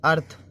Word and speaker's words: earth: Second देखें, EARTH, अर्थ, अर्थ मतलब पृथ्वी, इसमें भी देखो आ की ध्वनि आ रही है।